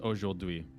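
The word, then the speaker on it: aujourd'hui: sure yep i hate you know today is oh dewey and then like bird is a wazzo wazzo and it's spelt so stupid like here i'll i'll spell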